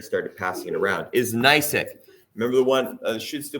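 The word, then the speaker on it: gneiss: find this in the rock called nice G NE I SS pronounced nice she's handing you a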